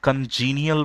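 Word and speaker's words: congenial: कॉन्जेनाइल बोलते हैं, है ना, कंजीनियल बोलते हैं इसको, कंजीनियल। मुख्य रूप से ब्रिटिश इंग्लिश में इसका प्रोनाउंसिएशन इज कंजीनियल, है ना।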